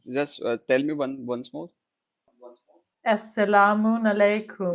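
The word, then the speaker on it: As-salamu alaykum: Assalamun alaikum. Like you pronounce different way. Like I heard only salam alaikum, but you use salam alaikum. It's a bit different. Yeah, Assalamun alaikum.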